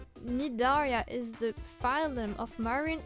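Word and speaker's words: Cnidaria: The sea and nidi is silent. Nidaria is the phylm of marin and vertebrates that include jellyfish and sea animals.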